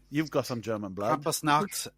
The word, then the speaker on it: Krampusnacht: Krampusnacht is correct. Well, they kind of roll the R, which I'm not...